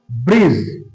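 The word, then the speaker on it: bridge: তাহলে বন্ধুরা বুঝতে পারছ যে ডি এর পরে যদি যে থাকে অথবা ডি এর পরে যদি জি থাকে তাহলে আমরা ডি এর উচ্চারণ করবো না।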